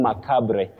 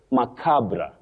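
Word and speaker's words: macabre: We should avoid saying mabre. Mabre. That is what we see in terms of the styling. But you say macabra macabra a macabra incident not mabra and not ma mabra.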